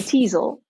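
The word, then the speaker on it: Teazle: is a teasel do you know that one the tea is a lot no it's it's spelled t-e-a-z-l-e a teasel nice and it's really I think it's very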